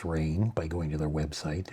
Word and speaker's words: Raen: The Raen, I learned it's pronounced Rain by going to their website and reading. We pronounce it Rain.